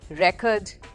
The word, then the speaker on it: record: जैसे कि RECORD, okay, जब ये नाउन है तो हम बोलेंगे रेकॉर्ड, और जब ये वर्ब बन जाता है तो हम बोलते हैं रिकॉर्ड।